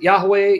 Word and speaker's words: Yahweh: However you want to pronounce the divine name, you want to pronounce it Yahweh, Yahovah, Jehovah.